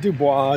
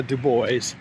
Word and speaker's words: Du Bois: And yes, I'm trying to pronounce that right. Not Du Bois, Du Bois.